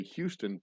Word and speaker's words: Houston: near Houston Street, which is spelled Houston and pronounced properly Houston, but in New York they call it Houston because they're Dutch.